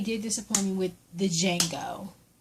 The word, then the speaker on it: Django: disappoint me with the Django the D is silent how in the hell